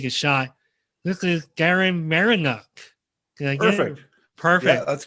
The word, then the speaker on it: Marynuk: ask you to tell me the correct pronun pronunciation of your last name but I'm gonna take a shot this is Darren marinu I perfect perfect yeah that's good welcome Darren